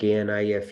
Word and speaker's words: knife: Teacher said KNIFE is knife. We didn't say why not knife. Said K is silent.